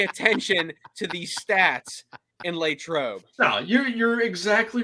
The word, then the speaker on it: Latrobe: valid point but but ryan uh on the pronunciation of latrobe oh boy it's latrobe did you pick that up from peep from